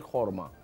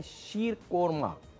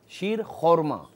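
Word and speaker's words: शीर ख़ुरमा: है खर्मा है खे शीर खर्मा ठीक है बाज लोग इसका नाम गलत प्रोनाउंस करते हैं शीर कोरमा कहते हैं तो शीर कोरमा नहीं होता शीर खोरमा है ठीक है जी यहां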